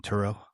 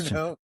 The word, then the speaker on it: Trudeau: Justin Turo or however the you say his name. Justin Trudeau.